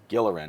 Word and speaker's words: Gilleran: It's a hard G, not a soft G.